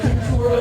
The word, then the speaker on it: Couture: Unless you work at Abercrombie and Floozy Bitch, or Juicy Cooter at the mall. Oh, I know they pronounce it couture, but who are they fooling? It's Juicy Cooter.